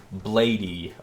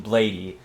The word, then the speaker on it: Bladee: So, uh, you guys know Blade or Bladey. Um, it the correct way to pronounce it is Blade. But whenever I'm around someone that doesn't know who Blade is, I'll call him Bladey because I mean it's just easier to understand.